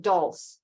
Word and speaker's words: dulse: It's So, Zen, you pronounce it dulse. You don't pronounce Dulce.